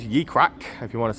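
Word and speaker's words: Ye Cracke: Uh it's spelled ye e crack with an e on the end. Ye crack.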